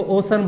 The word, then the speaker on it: ocean: तो सी के बाद ई ए आया तो इसका साउंड हो जाएगा ओसन। इसको ओशियन बोलते हैं जो गलत है, इसको ओसन बोलना है, ओसन, ओसन। इसका राइट प्रोनाउंसिएशन है ओसन।